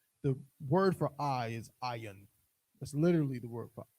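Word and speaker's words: עין: This is how we, in Hebrew, if I was talking about your I would say ayin.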